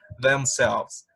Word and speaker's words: themselves: And the last one for they is themselves. Themselves. Themselves. Recuerden, no es themselves. Themselves. Recordemos el sonido de la TH.